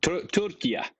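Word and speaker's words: Türkiye: How how he pronounced that Turkia, which is how they say it in Turkish.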